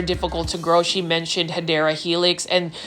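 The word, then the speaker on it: Hedera helix: new to the channel I mispronounce um hadera Helix as hedra Helix because I um was actually thinking that I was saying it correctly the first time but then I had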